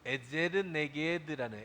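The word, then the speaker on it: עזר כנגדו: 원래 쓴 히브리 언어에는 뭐라고 있느냐면 돕는 배필은 에제르네게드라는, 에제르네게드 그렇게 읽는 거예요.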